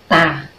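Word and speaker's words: 大: So, i-pronounce natin niya in Chinese is ta.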